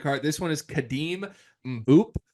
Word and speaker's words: Mboup: This one is Khadim Mboup. I'm sure I'm mispronouncing that. It's Mboup.